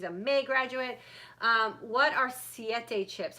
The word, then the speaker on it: Siete: What are siete chips? How do you spell it? Siete as in the number 7 in Spanish, so S-I-E-T-E.